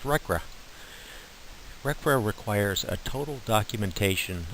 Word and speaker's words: RCRA: conservation and Recovery Act abbreviated as RC a and pronounced recra recare requires a total